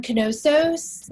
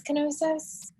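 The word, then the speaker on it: Knossos: an archaeological site on canosos in crete which is the place where it's spelled k-n-o-s-s-o-s again maybe it's kenosis that's what i say and crete and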